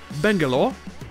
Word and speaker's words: Bangalore: Sur Bangalore, c'est la première syllabe qui est accentuée, et sur Gibraltar, c'est la deuxième, donc ça donne Bangalore et Gibraltar.